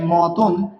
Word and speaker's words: মতন: ও এর মত হয়ে যায় যেমন এখানে দেখেন মতন মতন শব্দের উচ্চারণের ক্ষেত্রে কি রয়েছে এখানে দেখেন তো মতন